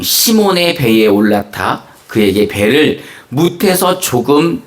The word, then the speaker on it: 시몬: 예수께서는 그들 중 시몬의 배에 올라타 그에게 배를에서 조금 떼어 놓으라고 말씀하셨습니다.